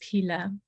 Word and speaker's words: Phila: My name is Pila. It is a challenge to pronounce my name because of Phil, but the H is actually silent, so it's Pila.